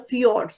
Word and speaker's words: fjord: the rocks of the fjords. So now you may say, what is this FJORDS? How are you going to pronounce it? It is fjord.